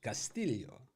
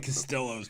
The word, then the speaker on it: Castillo: can break out our Spanish accents here steel pronunciation Castillo or as or as uh Butler would call him I like doing Costello's pitching yeah I like the way this Louis